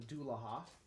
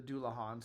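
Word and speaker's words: Dullahan: It's Dullahamon, based on the theme, the Headless Horseman in Japanese mythology is called the Dullaha. or the Doulahan, sorry.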